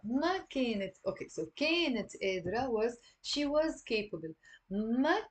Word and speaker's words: قادرة: ما كانت قادرة. So notice here there is a قاف. So we're not gonna pronounce it قادرة or قادرة. I mean, some people in Lebanon, like the Druze, pronounce the qaf.